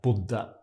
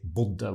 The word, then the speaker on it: bodde: Jeg bodde. The idea is that whenever you have a double consonant, then something gets short in Norwegian. So we would say å bo, and then we would say bodde with a short u.